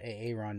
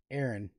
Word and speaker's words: Aaron: one of my streams i called nola a ron nola it's like you did in someone's chat said dude his name is pronounced aaron i'm not like you